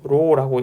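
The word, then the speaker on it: ρ: 로라고 읽습니다.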